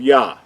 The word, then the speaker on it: Yah: we know that this the first two letters are pronounced as yah we talked about that